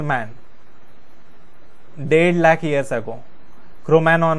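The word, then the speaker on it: Cro-Magnon: क्रोमैनॉन मैन जी silent है 50,000 years ago।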